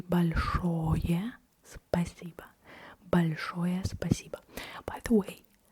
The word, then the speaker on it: спасибо: I do not really pronounce the O at the end. Why? Because in Russian you pronounce the O as O only if it's stressed.